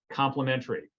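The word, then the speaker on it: Complement-ARIE: And it's actually abbreviated Complement, AIRI, and it's pronounced complementary.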